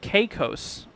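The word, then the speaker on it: Caicos: A little help is pronounced the Turks and Cos. Oh, is it? Is it Cos?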